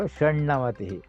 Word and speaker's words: षण्णवतिः: So now here is something like Shat and Na, they change it to Shannavatihi, like that, Shannavatihi. So why it has come, you don't have to worry.